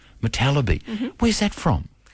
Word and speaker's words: Motallebi: Now, I'm saying your name wrong. I'm saying Motallebi, but how do you say your surname? Motallebi. Motallebi.